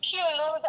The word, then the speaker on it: Q-Luz: It's Q-Luz, actually. Yes, it's a bit Spanish in there because Right.